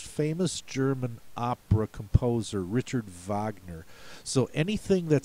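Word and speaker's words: Wagner: to the most famous German opera composer Richard Vagner so anything that sounds like it could be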